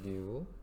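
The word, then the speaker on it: ν: 이렇게 뉴라고 읽으시면 되는데, 뉴.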